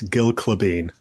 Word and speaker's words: Gille Klabin: Hey, listen, there's not a single conversation that doesn't start with me explaining how my name is pronounced. It's Gil Clevane.